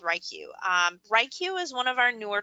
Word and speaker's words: WriQ: more kind of intently this fall it's called ryq that's how it's pronounced but what it is essentially is it's